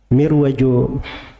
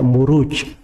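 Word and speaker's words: مروج: kalau Dar Raja ruju itu bukan mirwaj bacanya harusnya marwaj sebab bukunya kan setelahnya waadin aljauhar itu kalau di bahasa Arab gak dibaca mirwaj tapi dibaca muruj jamak dari marjun marajuju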